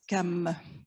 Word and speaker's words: CAM: du conseil d'appui méthodologique dont l'acronyme se prononcent calmes mais membres du calme